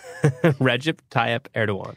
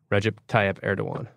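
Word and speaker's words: Recep Tayyip Erdoğan: Recep Tayyip Erdogan. Yeah, I always have pronouncers. Recep Tayyip Erdogan. Recep Tayyip Erdogan.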